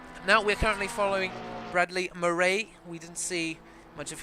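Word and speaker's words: Maré: And funnily enough, my surname, is spelled M-A-R-E, but the E's got an accent on it. So if you say it in an Afrikaans accent, it's Murray.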